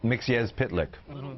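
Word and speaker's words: Mxyzptlk: non-fans or whatever would have no idea how to pronounce that and thanks to that little mix yes pit lick that's right mix yes yes alex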